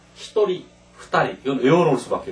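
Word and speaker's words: ひとり: 한 명을 할 때는 히토리 두 명은 후다리 세 명은 산님 그래서 여기서는 중요한 거는 한 명과 이제 두 명 이것만 발음이 다릅니다 히토리 후다리 이건 외워 놓을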